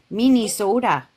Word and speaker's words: Minnesota: can I say it can I say it the right way minis soda minis soda yes that's the right way to say soda minis soda minis soda